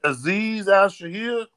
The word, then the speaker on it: Aziz Al-Shaair: That Aziz Al-Shaair.